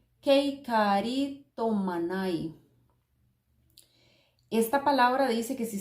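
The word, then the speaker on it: κεχαριτωμένη: las pongo por acá se pronuncia keikaritomana y algo así Kate karito manai esta palabra dice que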